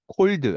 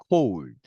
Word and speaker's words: cold: 네, 오의 대표 발음은 사실은 오우입니다. 절대 오로 나는 경우는 없습니다. 오우인 거죠. 자, 그래서 cold 아니고요. cold.